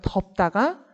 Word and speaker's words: 덥다: 접다보다는 덥다가 조금 더 발음할 때 발음의 길이가 길어져요. 덥다가 장음이에요.